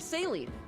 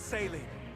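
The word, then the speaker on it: Céline: Yeah, the Princess of Firene, Saline. She's at the castle. Can you just spell it like it's pronounced?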